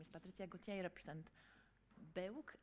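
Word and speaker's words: BEUC: Patricia Gautier represent baiyoke I say Baroque but actually our policy is that we can pronounce it in different ways depending on our language so that colleagues that say beep-boop Berg as well in French so feel free to pronounce however you want just maybe for those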